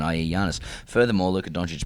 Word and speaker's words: Giannis: Uh The Bison says, "Boys, with respect, Yiannis Antetokounmpo to Antetokounmpo is pronounced with a Y sound, not a J sound, i.e. Yiannis.